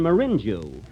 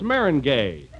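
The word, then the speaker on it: meringue: pies you know I'm famous for my lemon Marin Jew Marin Jew well that's Marin gay Mary oh that's way it's pronounced uh you learn something every day well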